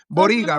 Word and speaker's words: Boryga: But Boryga, right? That's how you pronounce Yeah, it.